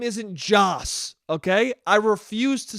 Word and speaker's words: Joss: what and they go his name's joss i go oh yeah and then guess what i do the next time i say his name i say josh again not even on purpose just because in my brain i go joss isn't a name it's josh okay so